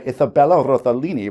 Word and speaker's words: Isabella Rossellini: for them by an eternal succubus played by Isabella Rossellini, which is how that's pronounced, named Liesel, hence the name Friends of Liesel.